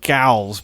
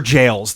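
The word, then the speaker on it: Evergaol: the jails yeah yeah I thought they were pronounced gals but like gals sure they're ever jails they're like permanent jails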